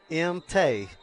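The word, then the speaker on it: Maung: I'm going to probably mispronounce the name, but spelled M-A-U-N-G. Well, luckily I was down in the middle of senior night tonight, and that is M-Tay.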